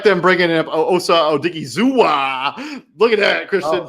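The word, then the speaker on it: Osa Odighizuwa: And then I do like them bringing in Osa Odigizua. Look at that, Christian.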